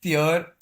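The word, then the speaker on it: Sjur: I think it's Seir like Norwegian. The the J is like Y.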